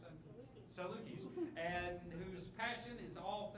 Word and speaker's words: Salukis: How do you pronounce that? Salukis.